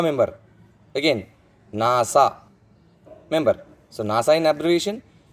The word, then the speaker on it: NASA: The third and final example, a NASA member. Again, NASA member. So NASA in abbreviation, and it's an acronym because it is pronounced like a word.